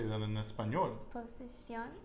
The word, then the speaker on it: posición: Posición. Posición. Excelente. And the stress is on the final syllable because we have Accent.